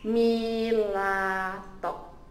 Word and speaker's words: Milatok: Ini adalah cara ejaan dia. Milato, okay? M-I-L-A-T-O-K.